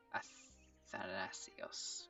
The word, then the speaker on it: Athanasios: Athanasios. That's a hard one to pronounce.